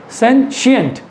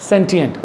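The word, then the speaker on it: sentient: और मैं आपको इसका प्रोनाउंसिएशन भी बता दूं, इट्स सेंशिएंट, नॉट सेंटिएंट, right. So this is सेंशिएंट, सेंशिएंट, सेंशिएंट। तालब show आएगा आपके मुंह में, सेंशिएंट, राइट।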